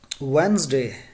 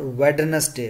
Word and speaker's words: Wednesday: right next word is Wednesday not wide earnest day okay what is the